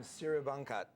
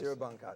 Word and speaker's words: Siribangkat: I'm going to pronounce their last name Siribangkat, correct? Yes. Siribangkat. We really community-oriented restaurant.